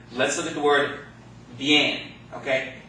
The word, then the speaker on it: bien: But if you run them together, it sounds like what? Yay. Got that? So this word is pronounced bien. Bien.